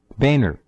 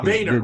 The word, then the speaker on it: Boehner: Boehner. Yeah, Boehner, right. We don't want to confuse people. It's not Bonner.